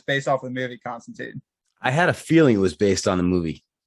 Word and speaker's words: Constantine: Constantine, also 3 syllables.